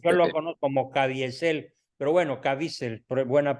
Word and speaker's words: Caviezel: No, ahorita me acabo de enterar una declaración de Jim Caviezel de que haya El actor también otro de La avance de Pasión, estos. ¿verdad? Sí, Jim sí, Caviezel. Yo lo conozco como Caviezel, pero bueno, Caviezel, buena pronunciación.